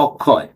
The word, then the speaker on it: অক্ষয়: বাঙালিরা কি উচ্চারণ করি অক্ষয় বৃক্ষ তক্ষক এইতো বলি কিন্তু লেখার সময় কি লিখতেছে ক যোগ মূর্ধন্য সাই না এভাবে উচ্চারণটা কিভাবে আকসায় বৃক্ষের এইতো কিন্তু আমরা উচ্চারণ করি অক্ষয় বৃক্ষ এই যে উচ্চারণ করে